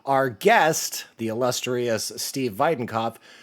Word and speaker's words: Weidenkopf: Our guest, the illustrious Steve Videnov. Do you like that I pronounce your name correctly by the way? Yeah, the German pronunciation is pretty pretty dope.